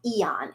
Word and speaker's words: Aeon: No, but there's another patch called Eon, and it's spelled Aeon.